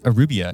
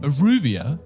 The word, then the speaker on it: Aruba: England versus Aruba in a friendly game. Arubia? Yeah. Are you pronouncing that right? Aruba.